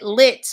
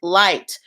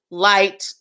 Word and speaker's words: LYT: lit like lift but it was pronounced light as in you know a light and and the the